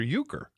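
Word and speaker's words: Euchre: I thought it was named after Uker.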